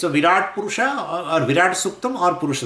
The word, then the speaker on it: Purusha: Wherever the sha comes, right, they pronounce it as a kha. So, Purukha they call. So, instead of a Purusha, they say Purukha.